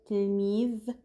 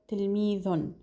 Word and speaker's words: تلميذ: And I've said before that you can omit the un sound at the end of the nouns you're pronouncing. So you can say tilmidh instead of tilmidhun.